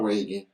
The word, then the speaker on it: Ragan: that spell r-a-y-a-n-a waiting not no not wagon doesn't wanna reagan the last thing is pronounced differently r-a-g-a-n and i want to